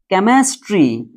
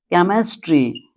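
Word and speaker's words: chemistry: तो ध्यान दीजिएगा यहां पर सीएच में जो होता है एच जो होता है इसे नहीं पढ़ते क्योंकि ग्रीक ओरिजिन है। सीएच ग्रीक ओरिजिन में सीएच को क पढ़ते हैं।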